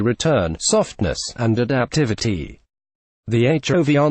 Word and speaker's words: HOVR: The HOVR name, pronounced HOVR, comes from the new foam cushion